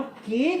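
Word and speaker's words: که: इसको क्या पढ़ना है हमने? की। वैसे मैं प्रोनाउंसिएशन के लिए लिख दिया, तलफ़ुज़ के लिए की, और इसको हमने क्या पढ़ना है? के।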